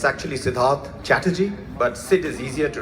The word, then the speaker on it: Siddharth Chatterjee: It's actually Siddharth Chatterjee, but Sid is easier to remember.